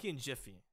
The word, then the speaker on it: Jif: a jiffy it's pronounced Jiff not GIF when it comes to the peanut butter yeah hell yeah